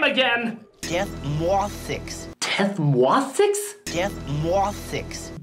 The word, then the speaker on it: Death Mwauthzyx: Death Mothix. Death Mothix? Death Mothix. Death Momsick? Death Mothix. Dick Mothsex?